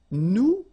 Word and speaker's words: nous: if you remember correctly, so final S is not pronounced here. Okay, and then this O-N, so it's a nasal and it goes in your nose and it goes like on.